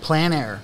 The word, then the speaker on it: plein air: paint paint with friends how do you say that planner plan air yeah i see it i